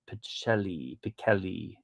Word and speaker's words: Pichelli: Thor number 1, the 1 in 25, Pichelli. Apparently it's pronounced Pichelli, even though nobody does.